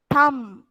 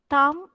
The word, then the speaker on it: thumb: Ein, tomb, thumb, plumber, plumber. Thus, B should not be pronounced. All these words, this B is silenced. Climb, tomb, thumb, plumber. You should not pronounce this B.